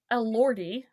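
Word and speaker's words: Elordi: And the reason that while I was saying oh my god uh so Jacob Elordy that's how you pronounce his last name is playing Heathcliffe in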